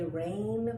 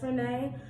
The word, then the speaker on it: Renee: I believe you pronounce her name Renee. I don't want to say Rain, but it's Rene. I believe that's Renee.